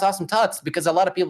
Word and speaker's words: Awesome Tuts: awesome toots but you know actually it is pronounced awesome tuts because a lot of people especially for me i say they're like awesome thoughts i'm like no it's awesome too so i